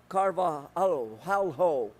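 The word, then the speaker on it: Carvalho: regarding the asshole superintendent Alberto c-a-r-v-a-l-h-o for the record I believe you pronounced that Alberto carvajo well Mr hell no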